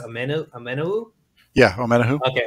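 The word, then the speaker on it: Omenihu: This year, I think – is his last name pronounced Amenahu? Yeah, Amenahu. Okay, Amenahu.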